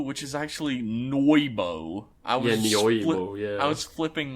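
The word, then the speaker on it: Nyoibo: And his fucking bow that I've always called the Neo bow, which is actually Noibo.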